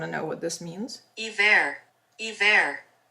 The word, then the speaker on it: hiver: Hiver. Hiver. That's how you say it, hiver, and it means winter.